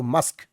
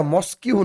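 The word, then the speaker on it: mosque: তাড়াতাড়ি ডাকছো তখন মাদার বলছে ইউ হ গো মাসক এটা মসকিউ নয় অনেকে মসকিউ উচ্চারণ করে তোমাদের তোমাদের উচ্চারণটা সঠিক করে শিখতে হবে।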